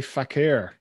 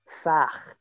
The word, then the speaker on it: Fakhr: Well, I was going to say Fakhr, but that doesn't sound right. Sounds slightly rude. It's actually pronounced Fach. Oh, with no R. No R sound at all. Slight R at the end.